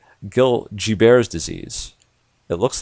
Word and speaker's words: Gilbert: most common disease is this thing called guilt G bares disease it looks like Gilbert's but it's pronounced bears disease believe it or not this condition which